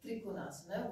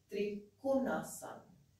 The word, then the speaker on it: Trikonasana: So to give an example, south of India, we could say Trikonasana, with the accent on the tri. And north of India would be more with the accent starting on the second syllable, which is Trikonasana.